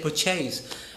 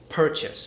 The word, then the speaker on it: purchase: like I don't say put chains I say purchase because the stress is on the first syllable you remember the spell